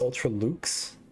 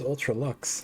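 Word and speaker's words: Ultra-Luxe: case sugar i'm sorry it's pronounced ultra luxe i thought it was ultra luxe this whole time tell me about the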